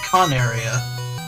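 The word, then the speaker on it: Coneria: were recording here um remember all those times i corrected you on the pronunciation of coronaria were you wrong yeah i think i was i was looking at some of the episodes and i think it's actually con area i think there's an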